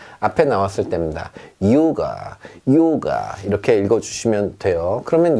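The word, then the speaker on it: Yoga: 다른데 우리가 생각하는 그 입실론, 영어로 치면 Y의 발음은 앞에 나왔을 때입니다. 요가, 요가 이렇게 읽어주시면 돼요.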